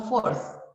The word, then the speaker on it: fourth: Tenemos el número 4, le agregamos TH, y esta TH se pronuncia como Z, como manzana, como zapato, y quedaría como fourth.